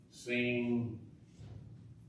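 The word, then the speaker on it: שׂין: Well, this word is is called seen or sheen. Both of them. That one. You have your choice. It's either seen or sheen. It's an S sound.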